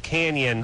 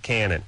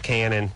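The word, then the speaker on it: Cañon: pronounce that there ISC it is pronounced Canyon but they call it Canon I see okay got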